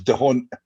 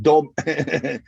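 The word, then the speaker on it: D'Hondt: Everybody goes dehont. It's not dehont. The H is silent. It's just dom. And I don't think I've met a single person in Scotland who can actually say it right. And it just sounds like if you feel daunted, don't. That's how it's pronounced.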